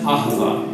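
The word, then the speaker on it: אהבה: most languages as it is a treatment it's pronounced acaba it most basically refers to the kind of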